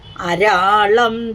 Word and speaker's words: അരാളം: ആയിരിക്കും പാലി ല ആയിരിക്കും ഇവിടെ സംസ്കൃതത്തില് ലാ യും ള യും തമ്മിൽ വ്യത്യാസമൊന്നുമില്ല ഉച്ചാരണത്തിൽ നമ്മളത് ഏതാണ് വാക്കെന്ന് ആ ഇതാക്കി എടുത്താൽ മതി അപ്പോ ള എന്നൊരു അക്ഷരം സംസ്കൃതത്തിൽ ഇല്ലാത്തതുകൊണ്ട് ല തന്നെയാണ് ഉപയോഗിക്കുന്നത് വായിക്കുമ്പോൾ നമ്മൾ സന്ദർഭം അനുസരിച്ച് ളായെ ഉച്ചരിക്കണം. ഇവിടെ അരാളംതേ പാളിയുകളം അകരാജന്യതനയെ ഒരു